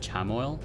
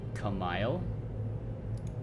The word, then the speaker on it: chamomile: So it's not a CH sound.